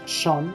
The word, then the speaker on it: Sean Bean: Y dice, pues, nada, mi amigo Sean Bean, o Sean Bean, es que se pronuncia casi como John, pero es Sean, Sean Bean, le pone la voz al rey de la película de tú, ¡ole!